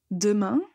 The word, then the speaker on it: demain: que dans ce mot vous n'allez pas prononcer des main mais vous allez utiliser disons le E muer demain demain cette phrase